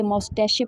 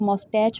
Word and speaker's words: Moustache: इस वर्ड की जो प्रोनाउंसिएशन है मुख्तलिफ है, मतलब इस वर्ड को डिफरेंटली प्रोनाउंस किया जाता है। कुछ लोग इसे मौस्टैशे पढ़ते हैं, कुछ लोग मौस्टैच पढ़ते हैं।